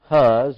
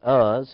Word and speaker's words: Huz: Huz, or we pronounce it Uz, his firstborn, and Buz, his brother.